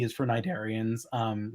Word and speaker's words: cnidarian: say C is for cnidarians um cnidarian starts with a silent c it's cnid uh but like business you're